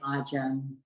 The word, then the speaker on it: Ajahn: But Thais sometimes have difficulty pronouncing, so some of the Thai teachers use the word Ajahn instead of Acharya for a teacher or a senior monk or monks at a monastery.